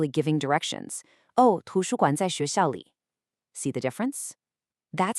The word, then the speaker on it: xuéxiào: Next, let's look at the x sound in xuéxiào, xuéxiào. This is a classic challenge. It is not the English sh sound. It's much softer, it's a higher pitch sound.